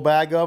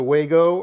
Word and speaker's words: Wago: I have a whole bag of them. And a lot of you might like the Wago or the Bago, depending on how you pronounce it.